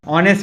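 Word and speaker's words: honest: ऑनेस्ट के साथ एन लगता है, कल ही बताया था, ओ से प्रोनाउंस करते हैं, द नहीं लग सकता।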